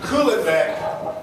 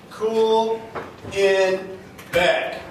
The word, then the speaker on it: Kuhlebeck: heard of me either so let's go back cooling Beck it's very easy name cool in back it's a very rare name you can Google